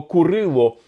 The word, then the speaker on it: Курило: Справа в тому що саме для української мови характерна вимова Курило не Кирило а Курило в тому числі і ця